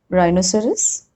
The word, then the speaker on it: rhinoceros: Rule number 3, H is often not pronounced when it comes after C, G or R. Like in these examples, choir, chorus, echo, ghastly, aghast, ghoul, or rhinoceros, rhyme, rhythm.